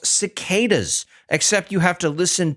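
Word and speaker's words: cdk8s: support for cdk 8s now cdk 8s is of course pronounced cicas except you have to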